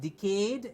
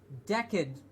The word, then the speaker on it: decade: corrected in the lender it's not decayed it's decade decade yes decade kid what would be decayed something that's gone off it's the past tense of decay will be decayed and this is a